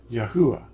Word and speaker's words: Yahuwah: That's Yod, He, Ua, He, Yahuwah. That's how you say it in English, or in our Latin alphabet.